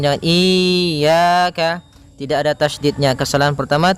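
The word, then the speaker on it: إِيَّاكَ: Pada lafal ya ini hati-hati dalam pelafalannya ada dua kesalahan yang sering terjadi. Yang pertama yaitu dia memanjangkan iya. Nah, seperti itu harusnya dia ee ditekan dan dilembutkan. Iyaka. Iyaka. Nah, kemudian jangan sampai dibaca panjang.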